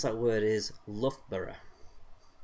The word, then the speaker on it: Loughborough: give you a clue the l-o-u-g-h at the beginning is pronounced luff okay uh i think i'm going to go and get solar so uh the way to pronounce that word is love borough i absolutely love